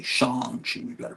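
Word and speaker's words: Shang-Chi: points during the movie lets everyone know it's pronounced shangi shangi you got to pronounce it right it's like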